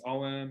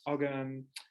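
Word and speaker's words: Ogham: all kinds of things om or sometimes it's pronounced ogum runes i studied um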